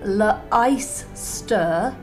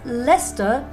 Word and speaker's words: Leicester: look at this one it's written la ice stir and pronounced Leicester to rhyme with Uncle Fester that's not on either